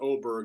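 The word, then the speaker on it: Åberg: a name it's spelled Aber Berg but it's pronounced oberg he's from Sweden um somehow Hockey didn't get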